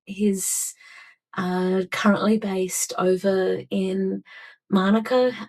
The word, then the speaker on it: Manuka: At the moment, he's currently based over in Monica. Monica is one of the older suburbs in Canberra,